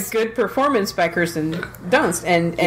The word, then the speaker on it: Dunst: Durst. How do you pronounce her last name? Kirsten Dunst. There. Kirsten Dunst.